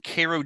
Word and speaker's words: Cairo: book well I'm originally from Koo Georgia which is a a tiny tiny Town not far from Tallahassee Florida that spelled just like Cairo but properly pronounced and my Egyptian Neighbors